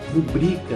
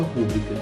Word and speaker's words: rubrica: Então, você pode me dar a sua rubrica nesse documento e não a sua rúbrica, que é como a gente costuma ouvir.